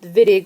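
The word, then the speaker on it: Wittig: a vitig reaction it's pronounced vittig like with a V because it's German we're going to do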